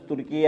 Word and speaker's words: ترکیہ: انہوں نے officially government نے نام تبدیل کر دیا ترکی کا، اب ترکی کا نام ترکی نہیں ہے، صحیح تلفظ ترکیہ ہے۔ تو یہ وطر بھی